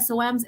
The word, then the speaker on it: Soames: You don't pronounce the E. Okay, like foam because you don't really have to say.